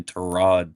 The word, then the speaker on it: Tyrod: sorry Trod apparently that apparently we've all been saying his name wrong. It's apparently Terod Taylor.